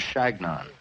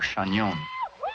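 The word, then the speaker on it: Chagnon: know my name I told him that it was shagnon or chanyeon but they couldn't pronounce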